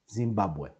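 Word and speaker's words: זימבבואה: And of course, the hey at the end of the word doesn't sound like a h, it's just mute. Zimbabwe. Zimbabwe.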